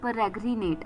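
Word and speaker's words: peregrinate: तो चलिए फिर the first word for the evening is परग्रिनेट। परग्रनेट पी ई आर ई जी आर आई एन ए टी ई परग्रिनेट I repeat P ई आर ई जी आर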